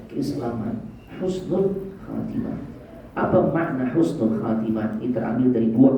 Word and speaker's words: husnu: Apa makna husnul khatimah? Ini terambil dari dua kata. Yang pertama husnu, yang kedua al-khatimah. Husnu bacanya harus benar, pakai ha, ya, bil ha, laisa bil kha, bukan dengan kha.